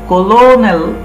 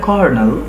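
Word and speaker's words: colonel: দেখো এটা কিন্তু কলোনেল নয়, এটা কর্নেল।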